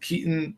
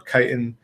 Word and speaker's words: Kiton: If you find this one, and I don't know if you pronounce it Kiton or Kiton, I think it's pronounced Kiton.